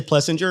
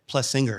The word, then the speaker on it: Plessinger: got it right everyone everyone murders his last name including me I always say Pinger and my wife's always like plus singer at this point I'm